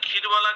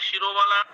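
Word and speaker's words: ক্ষীরবলা: এটা হচ্ছে স্পেলিংটা হচ্ছে KSHIRABALA, মানে কেউ বলে ক্ষীরবালা, কেউ বলে শিরোবালা।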